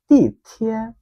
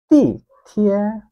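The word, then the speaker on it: 地铁: তো চাইনিজে বলে তি থিয়ে। তি থিয়ে। আমার সাথে আরো দুইবার উচ্চারণ করুন, তি থিয়ে। প্রথমে দেখেন ফোর টোন, দেন থার্ড টোন, তি থিয়ে।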